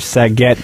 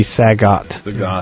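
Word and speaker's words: Sagat: I called Saget from SF Saget, but it turns out to be Sagot.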